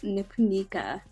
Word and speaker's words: Nipunika: you for having me on my name is nipunica yeah see the accent is the one thing